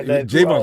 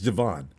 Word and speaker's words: Javon: We got Jayvon started this before it was easy. It's Javon. Go ahead.